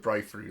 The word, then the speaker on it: Briferu: Briferu. Yeah, let's go with Briferu. That's how you pronounce it.